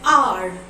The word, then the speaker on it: hour: An hour, an honor, an honest man. In all these examples, you can see the first letter H is silent.